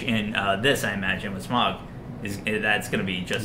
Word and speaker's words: Smaug: Their exchange in this, I imagine, with Smaug, that's going to be just as good. It's going to be worth the 2 hours to get to that scene. Yeah, absolutely. And it's pronounced Smaug.